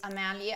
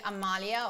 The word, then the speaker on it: Amelia: as we said so there is amelia amalia or amelia the way that we want to pronounce is sandy and paul